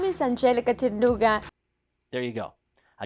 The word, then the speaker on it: Angelica: My name is Angelica Turluga.